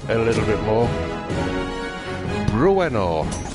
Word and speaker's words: Bruenor: I can increase Brenor a little bit more. Bruenor, that's how you say it.